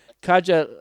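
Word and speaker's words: Katja: living in berlin and kajal lauren's is her name that's k-a-t-j-a so you can try to pronounce that as best used can but that's how i'm going to kaja so kaja is like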